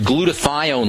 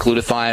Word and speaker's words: glutathione: the negative effects of chlorine building up your glutathione levels is very important glutathione is you may remember from uh we've talked about it a lot on the program glutathione is your body's major detoxifying substance and by